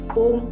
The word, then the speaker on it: ओम: ओम बना किससे है? आ ओ म 3 शब्द से बना है। और जब ओम की उच्चारण भी होती है तो 3 उच्चारण होती है, अकार, ओकार और मकार।